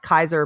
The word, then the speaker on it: Caesar: faction that's very they call themselves uh Kaiser but like it's spelled like Caesar and they are